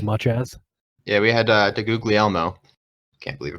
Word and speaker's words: DeGuglielmo: Yeah, we had DeGuglielmo. Can't believe I pronounced that correctly the first time. Proud of myself. Name. Wait, that was actually how you pronounce his name? Yeah. Yeah, it was. David DeGuglielmo.